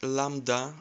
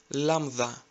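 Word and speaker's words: λάμβδα: You must have heard it like lambda, so replace D with TH and say lambda, lambda.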